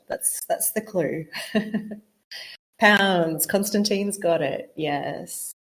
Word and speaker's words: lbs: the weight yep pronounce pounds exactly so if you see lbs written somewhere you can say pounds very strange I agree